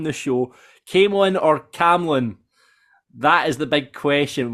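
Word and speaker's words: Camelon: It's Cam Lon, silent E, and only pronounced Came Lon as slang by locals.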